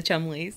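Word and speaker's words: Cholmondeley: Yeah, the Chumleys.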